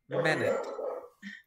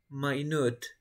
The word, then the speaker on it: minute: i that i always say how do we pronounce this word minute right minute but in a formal context you it i